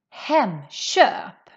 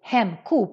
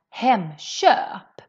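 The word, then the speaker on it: Hemköp: the front vowels then the sound of the k changes more to a sh sound so that's why we pronounce this as hem sharp hem sharp and this word or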